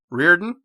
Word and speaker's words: Riordan: I adored everything she did so I completely butchered your name please for the sake of everybody Reardon oh yeah okay got it and be fair